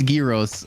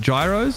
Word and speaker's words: gyros: to pronounce uh bro it's it's gyos like we we lived in in the Americans call it Gyros still yeah they do